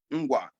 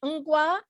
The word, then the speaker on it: Ngwa: And where I come from, Ngwa, Ngwa. And that's how you say it, Ngwa, N-G. Yeah, right.